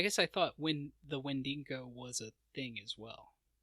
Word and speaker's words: Wendigo: Like, I called it Wendigo for like a year, and I was like, oh, I just added that extra N out of nowhere. But it's Wendigo.